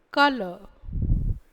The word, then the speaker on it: colour: ஆனால் கவனிக்க வேண்டியது என்னென்னா, இதில் UR இரண்டுமே எழுதுவோம், ஆனால் அதுக்கான ஓசை இருக்காது. இந்த இடத்துல யூ எழுதுவோம், ஆனால் அதுக்கும் ஓசை இருக்காது. இப்போ ஒலிகளை பார்ப்போம். இக், இல், கலர், கலர்.